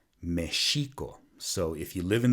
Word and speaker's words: Mexico: the mispronunciation of the x is the word mexico which should be pronounced Michiko so if you live in the state of